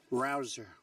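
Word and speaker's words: Rouzer: Rosa hey you know how you pronounce it rabble rouser you go David rouser where's David is he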